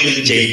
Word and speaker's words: Lil GB: Cuman kan orang daerah itu sulit untuk mempronounce huruf-huruf English, jadi kayak harusnya tuh Lil JB gitu. Cuman karena ya terjadi seperti itu gitu Pak. Jadi banyak yang manggilnya itu GB gitu malah.